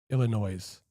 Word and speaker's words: Illinois: Kev, the S is silent in Illinois. Illinois.